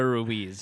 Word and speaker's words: Ruiz: I never say his name right. It's Joe Ruiz.